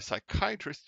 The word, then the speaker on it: psychiatrist: can't you hear a psychiatrist using the bathroom because the p is silent why is the peace